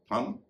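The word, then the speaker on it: thumb: है थिंक अगला है हम हम में देखिए आप टी एच यू एम बी इसमें टीच का उच्चारण थ हो रहा है और पर बी का वचन नहीं हो रहा है यानी बी साइलेंट है साइलेंट बी के बारे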